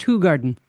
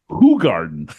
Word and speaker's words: Hoegaarden: Actually, he says it's pronounced Hoegaarden. A cold Hoegaarden. Hoegaarden. That's a Belgian white bitter and de-emphasizes hops is unfiltered. By the way, it's pronounced Hoegaarden.